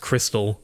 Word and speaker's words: Xtal: All right, how can we talk about music that captures vibes without mentioning Aphex Twin and his song Xtal, which I think is supposed to be pronounced crystal?